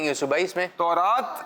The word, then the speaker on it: تورات: تورات اس کا تلفظ ہے, توریت بھی کہا جاتا ہے. اچھا توریت, لیکن اس کا جو اکثر تلفظ ملتا ہے ہمیں تو وہ تورات ہے.